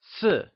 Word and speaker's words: 四: 4 is translated as Si.